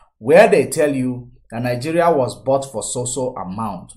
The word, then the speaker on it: Nigeria: You can't even pronounce the country name properly. No matter how much you baptize it, it is Nigeria. Nigeria. Niger area. That's what it is.